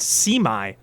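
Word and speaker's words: Su'mae: So, it's pronounced semi allies.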